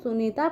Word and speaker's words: सुनीता: सुनीता नहीं पढ़ते हैं, सुनीता पढ़ते हैं ना। न पे बड़ी की मात्रा है लेकिन उसका उच्चारण बच्चों छोटे ई का निकल के आ रहा है, ठीक है, सुनीता।